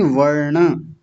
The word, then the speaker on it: वर्ण: और यहाँ ण का उच्चारण आप क्या बोलते हैं? वर्ड नहीं, वर्ण।